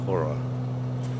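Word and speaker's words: Χώρα: It's CHORA, but I know from Hania that the CH is pronounced H. So Hora. So this is the island of Hora that we're just coming up to.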